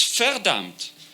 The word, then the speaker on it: verdammt: And the importance of this sentence is that all the V's are pronounced F. So it's verdammt, it's von Richthofen.